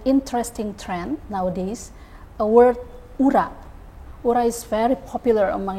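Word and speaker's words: ура: it uh well uh the right pronunciation I mean Ura Ura okay okay thank you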